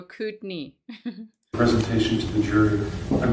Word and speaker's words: Kootenai: It's Kootenai. Kootenai County. I was used to say Kootenai. Kootenai? No, they're like, no, Kootenai.